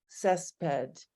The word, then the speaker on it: césped: en mis plantas o césped. Is that pronounced right?